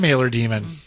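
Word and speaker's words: Mailer-Daemon: saying, you'll get a message from Mailer Demon. Demon. That's how you say it.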